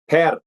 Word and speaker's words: Per: How do you pronounce it? Per.